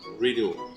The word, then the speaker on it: Riedel: Presented in a, how do you say, Riedel stemware? Riedel. Riddle.